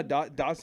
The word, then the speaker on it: Dachshund: I was pronouncing it like this the whole Dotson. fucking time. You know how Dotson, because Dotson, or they look like the Dotson the dog.